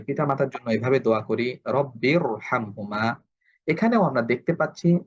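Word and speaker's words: رَبِّ ارْحَمْهُمَا: শব্দ আরবরা আমাদেরকে বলছে এখানে আমাদেরকে মোটা করে পড়তে হবে আমরা সেই অনুযায়ী আমরা এরকম পড়ব রব্বিরহামহুমা রব্বিরহামহুমা আমরা এরকম পড়বো না রব্বিরহামহুমা এটা ফুল উচ্চারণ আশা করি আপনারা বুঝতে পারছেন তাহলে এটা হচ্ছে র সাকিন তার পূর্বে যদি জের হয় জের হওয়া সত্ত্বেও এই রটা মোটা হবে এই শব্দ আমাদেরকে মনে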